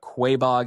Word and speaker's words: Quaboag: I think that's how you pronounce it. I've been corrected. I think I called it Quaboag in a video on Instagram, but Quaboag seems to be the way you pronounce it.